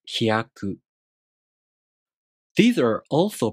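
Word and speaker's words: ひやく: This is pronounced hyaku.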